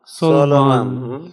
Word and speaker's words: Solomon: Solomon. Solomon. Yes. Los tres sonidos. Sol, Om, An. These are a triple sound word.